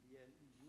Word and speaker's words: BLEU: It has to be pronounced blue according to and then it is written B-L-E-U and not B-L-E-U. Okay. They have to be pronounced bleu and not blue.